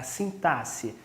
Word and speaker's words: sintaxe: A gente escreve com X, mas pronuncia com um som de S, ok? É a sintaxe.